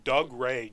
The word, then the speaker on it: Dougray: individual right there that's Dougray Scott and I had to look up how to pronounce his name because Dougray just seemed so wrong but it that's how you've done it the actor Dougray Scott